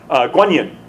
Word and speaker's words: Guan Yin: of mercy of compassion Guan Yin yeah he's consented Quan Yin is the Chinese pronunciation of that quondam I think in